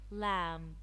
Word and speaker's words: lamb: crumb the be silent lamb lamb the B again it's silent no the K silent